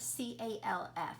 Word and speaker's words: calf: If you're thinking the L, you're exactly right, because I am not hearing an L when I say that word, calf.